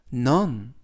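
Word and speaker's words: none: 안녕하십니까 여러분 넌 넌 넌이라고 발음하시면 되겠고요 품사는 대명사 뜻은 아무도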